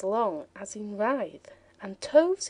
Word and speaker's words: toves: The I in slithy is long as in writhe, and toves is pronounced so as to rhyme with groves.